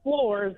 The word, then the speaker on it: Flores: which by the way, even though it is spelled Flores, it's Floors, like the thing you stand on.